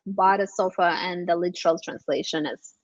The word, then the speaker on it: Badesofa: that business and now you're the CEO of bade sofa yeah so um it's pronounced B sofa I I I knew is going to be